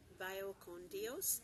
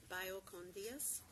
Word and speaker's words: Vaya con Dios: Vaya con Dios. Again, the V is pronounced with a B. Vaya con Dios.